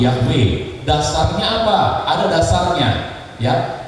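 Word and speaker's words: Yahweh: lafal yang benar Nah para ahli lebih memilih lafal itu yahwe dasarnya apa ada dasarnya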